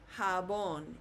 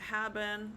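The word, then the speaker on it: jabón: So J will sound like an H.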